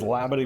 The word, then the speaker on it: Labadie: We did get that confirmed. It is Labadie, Missouri.